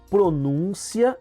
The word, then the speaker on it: pronúncia: Então, olha, por exemplo, a palavra trânsito e transito, do verbo transitar, secretária e secretaria, contém e contem, pronúncia e pronuncia.